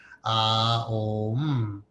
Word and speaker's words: Om: All right, it's a 3-syllable word. Om. A-U-M. Ah is the outpouring of energy. O is the sustaining energy. And is the return back into spirit.